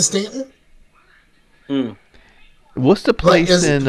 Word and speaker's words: Staunton: is spelled Staunton um but we pronounce it Stanton hmm what's the place